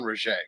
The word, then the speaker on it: Rogge: Is Ron Rogge for sure.